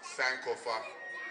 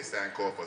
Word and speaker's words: Sankofa: And it's pronounced Sankofa in tree, but when you have a Canadian dialect, you'll say Sankofa.